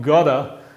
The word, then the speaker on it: got to: Si un nativo dice, I've got to go to work, y fija la pronunciación, gotta, realmente está diciendo, I've got to go to work, que es lo mismo